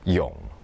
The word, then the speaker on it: 泳: And then we can have this another new Chinese character, swimming, the same pronunciation, yong.